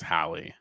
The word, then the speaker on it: Hallie: her one time, and she said it was Hallie. And like she said, this is how you pronounce it. But I could also be wrong. I don't know. I probably said it wrong.